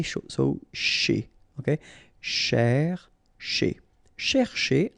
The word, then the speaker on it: chez: S'approcher de, okay, C and H together, sh, and then ER at the end, et, chez.